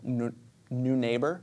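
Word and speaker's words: Neunaber: It's called uh the wet mono reverb from New Neighbor is how you say that.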